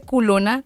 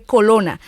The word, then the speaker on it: colona: Ah, bueno, pero es que no se dice culona porque el rabito es grande, sino se dice colona.